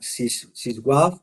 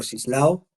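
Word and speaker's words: Zdzisław: Beinski, sislao se pronuncia siswav o sislao.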